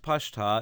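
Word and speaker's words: Pashta: read trope mark looks like an apostrophe it's pronounced pasta it's a servant of Cottone so it's not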